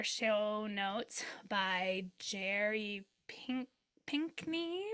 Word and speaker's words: Pinkney: notes by Jerry pink Pinkney Pinkney I think is is how you pronounce it um really beautifully